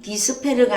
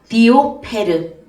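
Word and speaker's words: διόπερ: 에 발음 디스페르가 아니고 디오페르 디오페르 바로이 때문에 이런 뜻을 갖고 있고 그름으로 이런 뜻을 가지고 있습니다.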